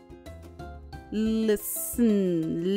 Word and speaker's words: listen: Listen, listen, T is silent.